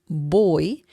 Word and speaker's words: voy: So boy, I know the pronunciation is like the English word boy, B as in bell, O-Y, boy, because the V sound in Spanish is similar to B as in bell in English.